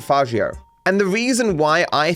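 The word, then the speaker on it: Faggio: said as a slur, because it's spelled F-A-G-G-I-O, and you could say that differently, but I pronounce it Fagio.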